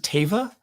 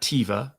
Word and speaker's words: Teva: sort of stuck and I do pronounce it Teva Teva not tiva not Teva um just because that's